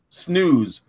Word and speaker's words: snus: So Jeff the Chef Piper is here, and he says they told me in Swedish it's pronounced snooze.